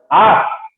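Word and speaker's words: -ous: Number 3 হচ্ছে আরেকটা suffix আছে, আর সেই সাফিক্সটা হচ্ছে আস, আস, যদিও উচ্চারণটা আস কিন্তু স্পেলিংটা হলো ও ইউএস, আস।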